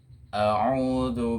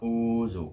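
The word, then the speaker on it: أعوذ: A'udzu billah ya, bukan auzu, bukan, tapi a'udzu.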